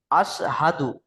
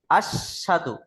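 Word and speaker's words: أشهد: আশহাদু, হাটা ক্লিয়ার উচ্চারণ করতে হবে, তাহলে সঠিক হবে।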